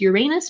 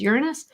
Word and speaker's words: Uranus: So Uranus, sometimes people pronounce this Uranus, but the classic definition, the classic pronunciation that astronomers use is Uranus.